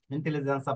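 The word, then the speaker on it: intelligenza: দেখুন এখানে আনসা রয়েছে ইন্টেলিজেন্সা পরে বেল্লেসা এই যে দেখুন এখানে রয়েছে আমাদের নিয়মটা কি নিয়মটা হচ্ছে কোন শব্দের শেষে আনসাই জিয়ার জিওনে থাকে তাহলে জ্যাতা অক্ষরের উচ্চারণ ছয় এর মত হবে এই যে দেখুন এখানে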